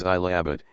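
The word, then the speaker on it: Allahabad: alahi he changed the name of preag to alahabad pronounced as I Abbot in 1583 silver Square rupee of abar laor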